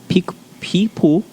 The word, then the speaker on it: Picpoul: They are plentiful with Chardonnay, Chenin Blanc, Picpoul, that's how you say it, Muscat grapes, mixed Moscato, and Mouzac, which is a red hue grape.